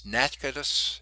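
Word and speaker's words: Natchitoches: you're familiar with louisiana it's nazcadas is how you say it you don't spell it that way at all it's really a odd spelling and anyway it's over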